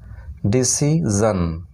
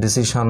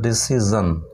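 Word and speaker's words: decision: তো এখানে দেখো ডি ই সি আই এস আই ও এন, ডিসি জন, এখানে কিন্তু জন হবে উচ্চারণ। আমরা সচরাচর অনেককেই দেখি এটা উচ্চারণ ঘটে ডিসিশন বলে, কিন্তু না, এটা ডিসি জন।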